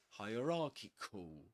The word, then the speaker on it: hierarchical: Remember again, like higher, Ra, the Egyptian god, and but in this case it's not Ki, but Kikul, Kikul, hierarchical.